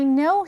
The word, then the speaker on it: know: 이때 맨 앞글자는 소리나지 않는 발음이에요. 우리가 이걸 좀 어려운 말로 묵음이라고 하는데요. K가 묵음이니까 아니라 우리노로 발음을 합니다. 알다 이런 뜻이죠. 예를 들어서 I know him 하면 나는 그를 안다.